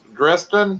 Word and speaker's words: Dresden: is it dre dress dresden dresden dresden dresden yeah it's actually it's actually like a city in like germany or something well i should know